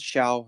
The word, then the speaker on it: Xiao: My name is Xiao, and it's pronounced like shower without er.